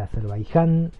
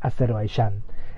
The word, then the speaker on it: Azerbaiyán: donde ustedes estén escuchando es seguramente la pronunciación seguramente la forma en que yo la nombre a la gente que no vive en Argentina le va a resultar extraña pero bueno para nosotros la y se pronuncia como Y entonces es azerbayán e Pero bueno lo